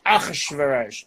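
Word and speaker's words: אחשורוש: Because in Hebrew, many times where you start a word with two consonants, you add a vowel before just to make it more pronounceable. So instead of Achshayarsha, you say Achashverosh.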